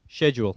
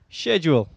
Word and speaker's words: schedule: do you say schedule schedule no no no how do you say schedule schedule just just checking now I say schedule you say schedule but it's the same thing all right except you've